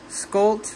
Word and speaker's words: Skolt: do you pronounce it correctly I'm gonna not pronounce it correctly how do you say the group in English it's called Sami sculpt Sami yes k-o-l-t and which so their primary